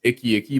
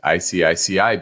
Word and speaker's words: ICICI: All right, looking at IBN as a symbol, and Steve used to call this Icky Bank. I don't think that's how you pronounce it. It's just ICICI Bank.